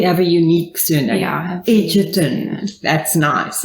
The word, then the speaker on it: Egerton: I think it's pronounced with a D, but there isn't a D.